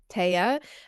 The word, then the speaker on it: Thea: Um as before we got started I told you you know how to pronounce my name. It's tea. Um spelled t h ea.